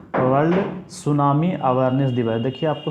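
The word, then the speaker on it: tsunami: जाता है तो वर्ल्ड सुनामी अवेयरनेस दिवस देखिए आपको सुनामी में आपको टी साइलेंट रहता है पढ़ते हैं इसको सुनामी लेकिन लेकिन आपका लिखाता कैसे है टी एस यू एन ए एम आई ठीक है तो आपको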